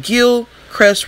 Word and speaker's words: Gilchrist: the highway but it's a road called Gil Crest Road but it's spelled like Gilchrist and she had an